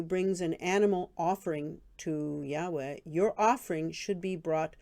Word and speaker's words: Yahweh: yahweh which is how i pronounce the name of god which is why hwh